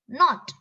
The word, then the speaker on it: knot: is silent know w k is silent k n o t